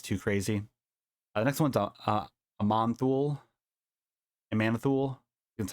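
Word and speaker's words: Aman'Thul: The next one's a Manthul. That's how you pronounce it.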